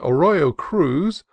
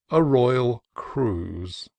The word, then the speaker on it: Arroyo Cruz: to as Peter's Blankets, and Arroyo Cruz, the name of a neighboring canon, as Arroyal Cruz.